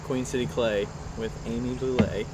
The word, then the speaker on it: Boullé: hanging out at Queen City clay with Amy Boule how do you is that the right way